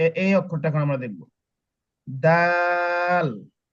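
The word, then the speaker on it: دال: অক্ষরটা এখন আমরা দেখব দাল তাহলে কি বলছিলাম যে জিম যতটুকু লম্বা করেছি দাল সেম একই একই রকম আপনার লম্বা করে পড়তে যদি আপনি দাল দাল দাল এভাবে বলেন তাহলে ভুল হবে তাহলে কি হবে এই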